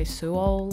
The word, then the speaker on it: Suol: We had Till Fon Sign, and he said that some people pronounce it soul and some people say Suol.